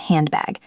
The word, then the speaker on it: handbag: Think about handbag. Hand ends in N D. Bag starts with B. Drop the D.